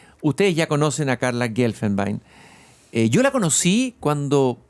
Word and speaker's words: Guelfenbein: Eh, Carla Gelfenbe, está bien pronunciado así.